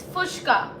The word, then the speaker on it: Puchka: It's Puchka. Okay. Yes. See, I'm pronouncing it fucking wrong.